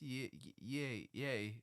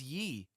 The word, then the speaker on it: Ye: It's pronounced yay because you say Kanye, not Kanye. I don't know, that bugs me though because a lot of people were like it is Yee.